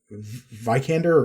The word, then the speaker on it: Vikander: yeah like the performance uh by uh uh vikander or vickened or how is your last name pronounced uh i think it's a vikander she's